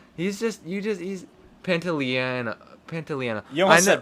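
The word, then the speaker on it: Pantoliano: Joe Pantalone or so, I forget how to pronounce his name. He's Pantaleano.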